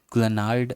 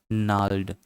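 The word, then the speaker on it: gnarled: seek among the पलिज देखो यह spelling देखो जी एन ए आर एल ई डी इसको हम लोग ग्लेनाइड ऐसा कुछ नहीं पढ़े इसको पढ़ेंगे नल्ड एन ए आर ओ मिट हो जाएगा जी ओ मिट हो जाएगा एलईडी नल्ड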